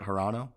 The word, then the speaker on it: Hirano: You got silver, and you know you're watching as Hirano. Is that how you say it? Hirano.